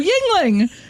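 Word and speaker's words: Yuengling: Yingling. But it's spelled differently.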